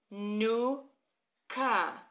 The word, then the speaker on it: Chanukah: So we've got our Chanukah.